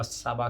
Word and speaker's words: Tsaba: English में लिखते हैं जेहोवा साबा, बट उसका स्पेलिंग है TSABA। टी जो है वो साइलेंट है, मैंने आपको पहले दिन बताया था, अगर आपको ध्यान में होगा तो।